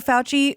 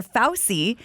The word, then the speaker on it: Fauci: ever heard about dr fauci was someone who mispronounced his name which was at the very beginning of all this was dr drew called him dr fausti and so when i heard dr fauci i just assumed they